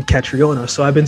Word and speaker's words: Catriona: just said your name catriona so i've been saying it right this time because i know a lot of people call you katrina and i was like